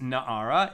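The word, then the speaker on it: נערה: young woman na'ara however although the term is pronounced na'ara it is written as nar without the letter hey at the end and even a minor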